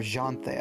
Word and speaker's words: Ianthe: It's Iphis and Ianthe, by the way. Yeah. Or Janthe, I guess, depending on how you want to pronounce it.